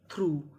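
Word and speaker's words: through: टी एच आर यू जी एच थ्रू थ्रू। थ्रू का मतलब होता है में से। यानी यहां पे हमें यू जी एच का उच्चारण नहीं करना।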